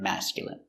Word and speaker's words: masculine: so remember these words words ending in i and e can have different pronunciations all of these have the sound in Imagine examine engine discipline feminine and masculine thank you for watching